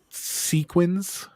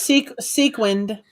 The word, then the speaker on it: sequin: there was a that sequence am i saying it wrong again sequence sequined sequence sequin sequin coat sold once in the